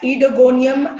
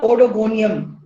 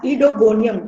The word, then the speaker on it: Oedogonium: and genus is etygonium it's called as edogonium and not odogonium o is silent so it's ido gonium understandable we will pronounce it as edogonium don't make mistakes now